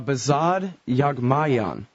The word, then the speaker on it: Behzad Yaghmaian: All right, Behzad Yaghmaian.